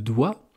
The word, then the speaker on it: doigt: Le doigt, D-O-I-G-T, eh bien, ça vient de digiti en latin, qui voulait dire doigt. Pour rendre hommage, pour rappeler l'origine latine de la France, du français, eh bien, ils ont ajouté un G et un T.